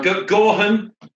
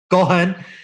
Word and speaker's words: Gaughan: Gaughan. Gaughan. Yeah, that's it. In Ireland, we would roll it quicker. Yeah. I did. You got to get a bit of phlegm in there as well. Yeah. Real Gaughan, you know.